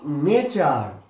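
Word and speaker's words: nature: উচ্চারণ করছি আবার তালবস এটা কি নেচার এখানে টি এর উচ্চারণ আমরা করছি চ আবার দেখ মিচুয়াল এখানেও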